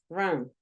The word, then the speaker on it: run: Por ejemplo, nosotros decíamos el verbo correr, run. Es un sonido schwa también, míralo.